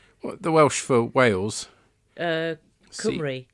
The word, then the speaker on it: Cymru: now, I don't know how to pronounce this. What, the Welsh for Wales? Cymru. Cymru, thank you.